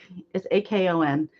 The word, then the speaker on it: Akon: It's Akon, but they always say have an R sound with it, so it's like a con.